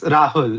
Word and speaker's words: Rahul: I mean, it's Rahul, but yeah, when like everybody says Rahul because it's like difficult to pronounce maybe, but yeah, like I myself call it like it's said like Rahul, Rahul. like emphasis on the H.